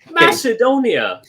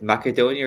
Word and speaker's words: Macedonia: Macedonia, you know. He said like mac Mac macadonia or something like that or basically called them macadamia nuts.